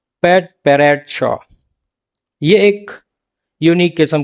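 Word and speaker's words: padparadscha: का वर्ल्ड है और हमारे लोग इसको पटपराचा आम लैंग्वेज में मतलब आम प्रोनाउंसिएशन में पटपराचा बोल रहे होते हैं। यह असल में प्रोनाउंसिएशन होता है पैट पैरेट श।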